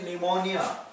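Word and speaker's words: pneumonia: लेकिन sparing speed से शुरू होता है शिमला निमोनिया निमोनिया में भी स्पेलिंग आपका यह को शुरू होता है पीएम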